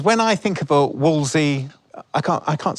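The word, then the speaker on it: Wolseley: Is it Woollies? That's how that's how it's spelled, isn't it? Yeah, but it's Wley, isn't it? Yeah, Walsley. Yeah, like the club in London.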